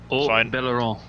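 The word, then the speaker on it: Haut-Beyleron: Well, while you're here, since you probably have practiced this like 8 million times, how do you pronounce the French map? Belaron.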